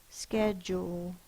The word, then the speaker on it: schedule: schedule sound it out schedule the first sound is s because this word is from Greek because of its Greek origin CH says the C Sound c h says the